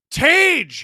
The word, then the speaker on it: Tage: And your answer is Tage. He's all the rage.